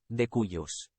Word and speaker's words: de cuius: su muerte, conocido también en la doctrina como de cuius. Pronunciado.